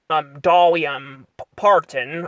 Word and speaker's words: Dolly Parton: We get to see her, cousin in here, who, fun fact, is voiced by, Dolly, Parton. I think is how you pronounce her name, Dolly Parton, which, by the way, is still alive to this day.